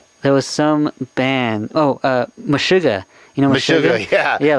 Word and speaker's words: Meshuggah: Yeah, Mega Sugar or Mega Sugar. I don't know how to pronounce that. Meshuggah, yeah.